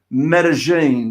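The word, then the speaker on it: Medellín: i can actually i think i can actually pronounce medellin did i say that correctly you did indeed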